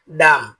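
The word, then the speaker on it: dumb: সি এল আই এমবি এর উচ্চারণ claim হবে না এর উচ্চারণ হবে ক্লাইম যার অর্থ ওঠা ডি ইউ এমবি এর উচ্চারণ ডাম হবে না এর উচ্চারণ হবে ডাম যার অর্থ বোবা এন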